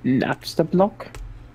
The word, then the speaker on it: Napstablook: to deal with because you saved me it's pronounced napstablook we don't have salute no you know man